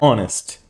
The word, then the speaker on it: honest: Mas tem algumas e poucas, palavras que têm um H mudo.